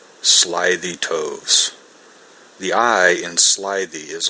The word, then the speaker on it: toves: how to pronounce slithy toves the eye in slythe is long as in writhe and toves is pronounced so as to rhyme with groves again the first o